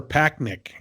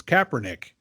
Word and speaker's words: Kaepernick: that / Nick yeah I kept kissing her pack Nick it's Kaepernick I've gotta get his